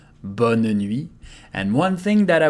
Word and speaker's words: bonne nuit: Bonne nuit, there is a final T that we don't pronounce. Bonne nuit.